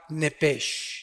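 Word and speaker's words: נֶפֶשׁ: hebreo es la palabra nepes apúntala como suena nepes con sh se pronuncia nepe al morir algo se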